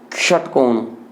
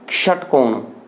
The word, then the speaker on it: षटकोण: से हो रहे हैं इसका उच्चारण का या षटकोण इसका उच्चारण होगा षटकोण फिर से देखिए सड़क